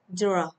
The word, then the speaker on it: draw: Từ này khó một chút này. Draw. Draw. Draw. Đó, âm o tròn miệng nào.